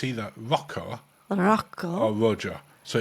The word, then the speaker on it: Rojo: either Rocco Roco or Rojo. So it's R O J O. Now I think you'll actually find that the J is a H and it's a Rojo.